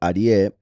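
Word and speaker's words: אריה: But look how Aryeh, which is lion, ends in Yah. In this case, pronounced as in Yahweh, when the hey is at the end.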